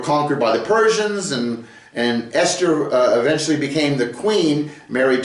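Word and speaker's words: אסתר: It's an aleph, a samek, a tav, and a resh, and it's pronounced Esther.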